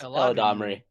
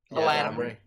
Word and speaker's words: Eladamri: Yeah, I don't know how to pronounce it. It's Eladamri. Eladamri.